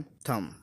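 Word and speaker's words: thumb: तो हम ये कह सकते हैं कि देखो, जब भी एम के बाद बी आएगा तो वो साइलेंट रहेगा। कॉम, लैम, टॉम, थम।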